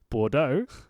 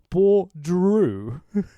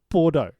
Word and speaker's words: Bordeaux: up of the night by calling Scarlet. Scarlet Brew. I'm like Tina don't own that name, dude. You can't pronounce the word Bordeaux. Like it's not that difficult.